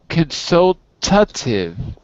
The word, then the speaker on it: consultative: abusivo yes AB consultive consultative consultative right you you can't lose the the T and you have to actually add a little syllable so consultative just like we have